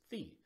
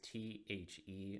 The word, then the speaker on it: THE: DEX token, which is THE. Now, it's tempting to take a look at those three letters, T-H-E, and say, oh, that's THE. But the way how it's pronounced is THE, and we're going to